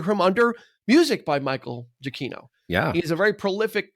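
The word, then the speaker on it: Giacchino: Michael Jackson because I was going to say GI Aquino giacinosano it's Michael jokino so he directed it and uh normally you hear him under music by Michael jokino yeah he's a very prolific composer of Television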